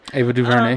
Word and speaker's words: Ava DuVernay: this series that Ava Duvernay, look at me pronounce the words correctly, Ava Duvernay, yep, directed."